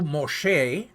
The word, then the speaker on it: Moshe: name Moses is the English for the Hebrew Moshe but Moshe is the Hebrew for mesu now I'm trying to pronounce the Egyptian for you as best as